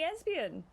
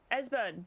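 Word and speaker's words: Esbern: Yeah, our last episode was called Finding Espion. Esburn, sorry. I don't know why I keep giving him an extra syllable.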